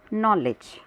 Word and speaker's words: knowledge: इसी प्रकार अगला उदाहरण है KNOWLEDGE। इसमें K, W और D 3 वर्ण साइलेंट है, उच्चारण किया जाता है नॉलेज।